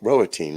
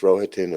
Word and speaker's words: Rohatyn: Rohatyn is the way I think it's pronounced. I understand it's a name from uh, the Ruthenian portion of Europe, which is part of the old Polish-Lithuanian Empire, or Commonwealth, I should say.